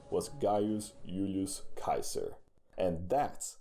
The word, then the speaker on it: Caesar: call him Gaius Julius Caesar that's actually true the sea in Latin is a hard C so that it sounds more like Kaiser that's actually where we